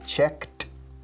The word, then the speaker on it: checked: They checked in. Checked, ed con sonido de T.